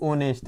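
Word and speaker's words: honest: हाउ ऑनेस्ट जिसे आप इसमें साइलेंट रहता है एस।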